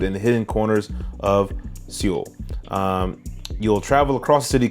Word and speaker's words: Seoul: It is Seoul. It's pronounced Seoul.